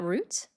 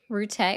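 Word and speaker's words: Rutte: Are you talking about Matt Root? Rute. Whatever. No, I'm kidding. Yeah. It's how he pronounces his name. That's the correct pronunciation. My bad. Rute.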